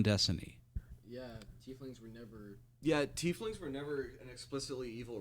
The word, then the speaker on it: tiefling: who originated there a t fling and they actually have it here pronounced t fling thank you yes is